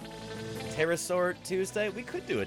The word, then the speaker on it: pterosaur: how are you pterodactyl there should be a silent P before the tea in Tuesday too right pterosaur Tuesday we could do